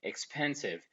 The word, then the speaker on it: expensive: Do we pronounce this E when we say the word expensive? Of course, no. This E is not pronounced, so it's not counted with the vowel sounds.